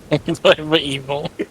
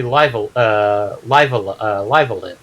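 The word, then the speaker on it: Live A Live: I actually encountered somebody that encountered the ROM and pronounced it Live Evil because that's how the logo looked to him, and like, no, it's supposed to be Live Alive.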